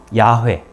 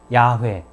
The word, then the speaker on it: 야훼: 그 이름이 곧 야훼. 실제로는 그 히브리어에 자음만 표기되어 있는데요. YHWH라는 자음이죠. 그리고 YHWH라고 하는 자음 사이에 주님이라고 하는 말, 아도나이죠. 아도나이의 모음을 붙여서 발음을 하니까 야훼, 여호와 뭐 이런 발음이 됩니다.